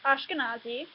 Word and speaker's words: Ashkenazi: But if he had, then he mispronounced my URL, which is Ashkenazi.